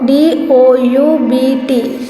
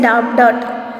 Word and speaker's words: doubt: So DOUBT. B is silent over here. We don't say doubt, right? So it is doubt.